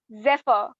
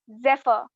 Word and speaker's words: zephyr: jeff here that's not the correct enunciation it's zephyr i repeat it's zephyr now the last spelling for team emerson am